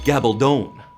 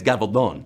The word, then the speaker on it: Gabaldon: time or drums of autumn we ignorant Americans pronounce it Gabaldon Gabaldon gobble don't in Spain it's gavel bone that's the property anyway Diana Gabaldon all right you know where she's just cheering